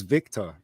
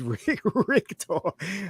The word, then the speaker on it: Richter: I always thought it was Victor, but it wasn't. It was Richter. I always thought Arnie was pronouncing Victor wrong, but it is spelled Richter, basically.